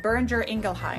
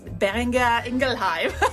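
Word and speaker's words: Boehringer Ingelheim: I'm pronouncing it right burer ingleheim burer ingleheim well it's a German name so it's it's Binger engelheim I know it's just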